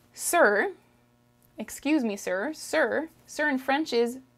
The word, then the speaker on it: monsieur: french is messi messi this spelling is very misleading in french okay the way you would read it would be monsieur but it's that is incorrect the way you say it is me sir miss you okay you want to